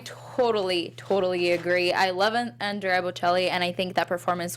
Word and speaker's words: Bocelli: on the pianos, the Botticellis. Is that right? Am I pronouncing that right? Bocelli. The Bocellis, yes. Rotor13 from the chat said